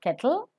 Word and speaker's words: kettle: Ketli is called kettle. Kettle, ka is to be aspirated. And pronounce l immediately after t. Kettle, not kettle. Kettle.